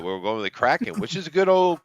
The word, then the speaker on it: Kraken: Karatens. Oh, the Kraken. Yeah. The Kraken. Oh, it's Kraken, not Yeah, it's Karatens. pronounced Kraken.